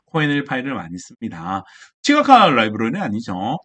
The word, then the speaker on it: KoNLPy: 근데 지금 보기에 보면 보기 1번에 KONLPY 자 저거 뭐라고 읽느냐면 CONLPy 이렇게 읽습니다. 근데 제 용도는 뭐냐면 한글 텍스트 분석을 할 때 사용하는 라이브러리예요. 그래서 한글 텍스트 파일을 불러온 뒤에 코엔엘 파일을 이용해서 뭐 품사도 찾고 우리 형태소 분석 이렇게 부르거든요.